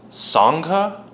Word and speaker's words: Sangha: not even know how to pronounce it it's pronounced Sangha saga so Sangha means community it's typically used